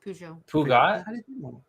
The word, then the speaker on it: Peugeot: so I was looking I wasn't sure how to pronounce this but it's pronounced Peugeot wait so this is